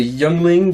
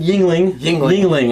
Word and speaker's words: Yuengling: with me thanks to young ling yingling i always always want to say that just because the way it's it's spelled so we're gonna talk